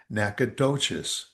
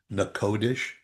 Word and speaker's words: Natchitoches: And there is a town which I have always called it Natchitoches. Mhm. Natchitoches, Louisiana. It's not? Uh-uh. What is it? Would you believe it's pronounced Nakodish?